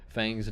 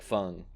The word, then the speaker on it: Feng: I think everybody just says Fang's name wrong. Her name is like Feng, because Feng Cha is playing.